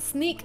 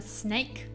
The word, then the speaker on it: Snyk: at snake dot io now it's pronounced sneak i thought at the beginning it's been a snake i just pronounced snook it's sneak sneak sneak